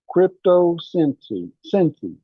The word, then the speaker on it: Crypto Sensi: Crypto Sensi, like sensei. Okay. So it's spelled crypto the same way you spell crypto, and then SENSI. SEI.